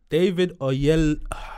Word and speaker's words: David Oyelowo: How do you pronounce it? David Oyelowo.